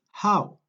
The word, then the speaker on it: how: Dijimos que la pronunciación de la H en inglés sí existe, tiene sonido. Por ende no es how, sino que es how, como una alca, como un horse. How.